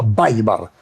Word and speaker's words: Wbeimar: Y entonces, él nunca me dice Weimar, me dice Weimar. Weimar. Porque fonéticamente, me dice él, es un adefesio, ¿no? decir Weimar. Se pronuncia Weimar.